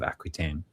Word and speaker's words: Aquitaine: on the Duchy of Aquitaine. Normally, like the French way to pronounce that would be Aquitaine, but I'll just say Aquitaine because most people know it these days.